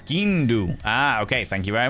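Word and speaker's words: sgian dubh: It's skindu.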